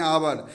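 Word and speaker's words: hour: घंटा घंटा को इंग्लिश में क्या बोलते हैं आवर लेकिन यहां पर बचों उच्चारण एप्स साइलेंट होगा वह की तरह आएगा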